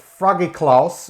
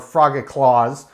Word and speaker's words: Frogichlaus: this specific beer is called froggy klaus or frogger claws as i'm sure how most english-speaking people would pronounce it this is specifically a